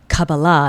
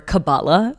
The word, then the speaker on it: Kabbalah: Um, cababala, the correct way to say it, or cabala as many often call it, is spirituality at a root level.